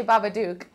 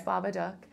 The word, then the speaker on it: Babadook: and Jennifer from Baba I know how to pronounce it now because of seeing it I know cuz at first you say baba duuk but then you quickly learn it's Baba duck so I wanted to how did how did